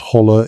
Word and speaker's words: hollow: The word hollow, pronounced holler in the traditional Ozark dialect, is not just a synonym for valley.